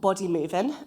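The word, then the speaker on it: Bodymovin: Um, and then I'll export that using uh a tool called body movein. Um, the G is silent.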